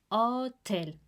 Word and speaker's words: hotel: No se pronuncia la S. Hotel.